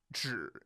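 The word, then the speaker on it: 只: When Zhi is pronounced in third tone and means only, that made Ryan think of help us, Obi-Wan Kenobi.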